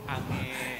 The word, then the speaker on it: Ange: Bahkan bukan cuman dia saja yang juara tapi pelatihnya Angeh itu ange. Ange ya. Ange bacanya.